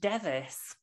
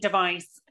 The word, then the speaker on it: Device: I I was saying device for a long long time because obviously a kitchen device but no it's it's when it's a name in in Yorkshire or Lancashire it's devis and the reason that